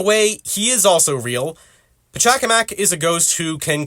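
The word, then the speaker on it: Pachacamac: has to do with my previous video about Patak kamak or I'm sorry pakamac and yes that is how his name is pronounced and I feel pretty stupid for trying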